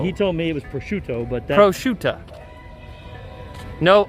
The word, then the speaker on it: prosciutto: I would say most commonly, probably pronounced wrong, it's prosciutto.